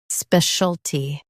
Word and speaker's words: specialty: specialty Now read the syllables shown on the screen naturally. spe shul tee, specialty Stress the spe syllable and keep shul soft.